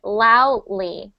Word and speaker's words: loudly: you said loudly loud kind of we call that a gatle stop so like loud loudly loudly and so there's a there's the D sound it's actually just uh yeah so loudly but the funny thing is the D is not really there just make sure you don't sound like this loud loudly loudly so the D is there but just um just make sure that you're not having like a gatle stop in the middle